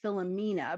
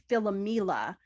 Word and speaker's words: Philomela: But she misses her sister Philomela, which is often misspelled as Philomena, but it's Philomela.